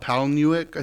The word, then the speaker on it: Palahniuk: Palahniuk.